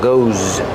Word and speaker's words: goes: Pronounce it like a zz, like zebra. Goes.